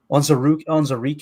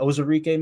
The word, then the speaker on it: Onwuzurike: And then you Levi Onwuzurike, I think is how you say it, Onwuzurike maybe, from Detroit.